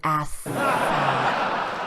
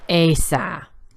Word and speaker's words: Asa: settle down there now King ass it's pronounced ASA whatever but I want